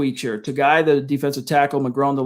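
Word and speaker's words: Togiai: All right, I'm gonna take Moses and Togai, if that's how you pronounce his name. I always botch some of these more. Togai, thank you.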